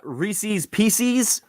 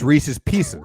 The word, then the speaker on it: Reese's Pieces: sherbet and then there's there's people that say Reese's pcs its Reese's Pieces Reese's Pieces like what the hell is wrong with these people just read the label no